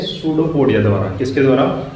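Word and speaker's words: pseudopodia: हैं वो करते हैं सूडो पडिया द्वारा किसके द्वारा यहां पर प साइलेंट रहता है या जो यहां पर इस साइलेंट होता है सूडो पोडिया द्वारा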